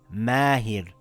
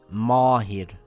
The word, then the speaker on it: Mahir: For example we say the word mahir, the meem is a light letter so the alif will be light. It makes an aaa sound. Mahir and not marrhir.